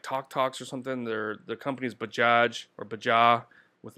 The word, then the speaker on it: Bajaj: Bajaj, I don't know how you say it. I think the J is silent. Bajaj.